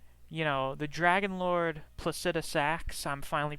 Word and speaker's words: Placidusax: you know, the Dragon Lord Placidusax, I'm finally pronouncing his name correctly, literally lives in a storm outside of time, which is basically at the center of Farum Azula.